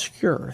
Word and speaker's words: Skur: first skewer what is secure it's spelled scur s-k-u-r but in Norway it's pronounced secure that's why I use